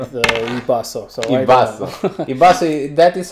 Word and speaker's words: iBasso: So iBasso.